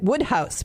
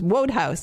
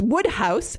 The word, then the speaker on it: Wodehouse: I said Woodhouse because when I first went to England, because I lived in northern Michigan, nobody had certainly ever heard of P.J.